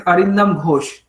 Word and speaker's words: Arindam Ghosh: So yeah, Yes, actually, like I told the professor name correctly, but the surname wrong. So it's Arindam Ghosh.